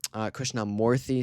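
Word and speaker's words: Krishnamoorthi: Illinois, it looks like it's going to be Krishnamurthy, sorry.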